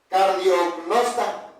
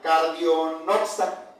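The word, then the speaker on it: καρδιογνώστης: Y esa palabra en griego, hermanos, se pronuncia cardiognosta.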